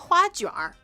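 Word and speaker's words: 花卷: The dough part of, it's called huajuar in Mandarin. Huajuar. Fagun is how you say it in Cantonese, but honestly, huajuar is very like a mainland dish.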